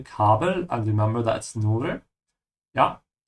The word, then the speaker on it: Kabel: Also das Kabel, make sure to open your mouth on the A when you say Kabel, and remember that's Nur.